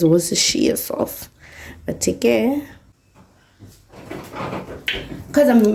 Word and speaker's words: Worcestershire: How do you pronounce this, guys? But I think it's Worcestershire sauce.